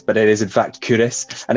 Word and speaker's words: Culross: of the day and today i'm looking at curis which is in fife now curious sometimes gets pronounced as kill ross but it is in fact curis and it's another town in the kingdom of